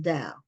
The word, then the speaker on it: Dao: I think her last name is pronounced Dow, but she has a